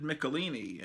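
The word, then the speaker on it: Michelinie: and the script I always thought it was David Michelin but everyone online on YouTube pronounces pronounces it David michelini and okay well I guess it could be that but as a kid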